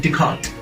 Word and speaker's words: Descartes: in uh decodes so first s and last s remains silent so it is a rheem descartes then we have another